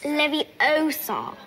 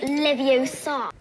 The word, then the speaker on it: Leviosa: Besides, you're saying it wrong. It's Leviosa, not Leviosa. Put me down.